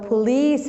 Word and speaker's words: police: The C in police officer, the C in police officer is pronounced like S because we have E after the C.